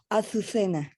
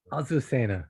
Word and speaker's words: Azucena: How do I pronounce that? Azucena. Azucena.